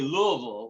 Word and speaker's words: Louisville: knew that he was born, as they say, Louisville.